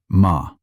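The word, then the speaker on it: 間: It is written mom and pronounced ma.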